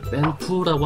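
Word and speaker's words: 蝙蝠: 게다가 박쥐는 중국어로 이제 뺑푸라고 하는데, 이 푸라는 발음이 그 행운, 그러니까 이 복이라는 말의 중국어 발음하고 똑같아서 박쥐를 먹는다는 부분이 곧 복을 먹는다라는 의미를 지니고 있는 부분이 있죠.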